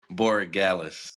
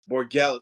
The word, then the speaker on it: Borregales: Borregales. Borregales.